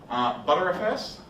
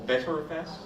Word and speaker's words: Btrfs: ButterFS, or BTRFS, or BTreeFS. Some of the guys who wrote it like butter, so therefore they want to pronounce it ButterFS, or BetterFS.